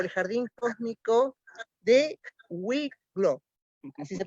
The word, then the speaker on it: Wicklow: Y nos acompaña la Caminata Cósmica o el Jardín Cósmico de Wicklow, así se pronuncia, Sí, que está al sur de Dublín, en Irlanda.